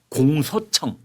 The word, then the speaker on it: 공소청: 하나는 공소청. 여러분 저 오자 발음 우자 발음 잘해야 됩니다.